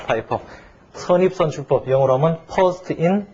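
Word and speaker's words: FIFO: 가정을 해서 처음 다는 게 파이포. 이거 피포라고 읽으면 안 돼요. 파이포.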